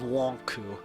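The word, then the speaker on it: Lon'qu: In America, his name's Lonku, because that's how it's pronounced in Japanese.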